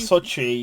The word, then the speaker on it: Sochi: I don't know how to pronounce it, which is quite embarrassing. I think it's Sochi? like Sochi? Sochi, yeah.